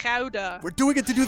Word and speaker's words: Gouda: It's a very Gouda ability to have. Well done, Aridna. That's not how you pronounce that. That's It's Gouda.